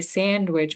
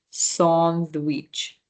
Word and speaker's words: sandwich: So remember anytime you see that A in French, that's an ah sound, right? So I know in English we say sandwich, but in French it's the ah sound. It's sandwich, sandwich, in sandwich. Okay, so it's more like a sand and then wich, sandwich.